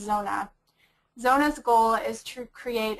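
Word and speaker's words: Zoona: business called zona it's spelled z-o-o-n-a and it's pronounced zona zona's goal is to create a cashless africa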